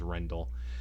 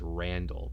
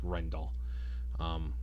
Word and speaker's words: Rendell: then Nina's husband Rendell I think it's pronounced Rendell at first I thought it was Randall but no it's actually like Rendell he ends up killing